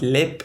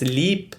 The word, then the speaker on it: Leap: pronouncing it as lip the comments were like it's not lip it's leap so i'm gonna go with leap because it is spelled castle l-e-a-p so like leap castle